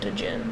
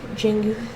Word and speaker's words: Djinn: I'm saying it's probably not pronounced Djinn. It's probably just pronounced Jin.